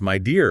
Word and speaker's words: Midea: So let's talk about Midea, the brand behind all this. Pronounced my dear, apparently.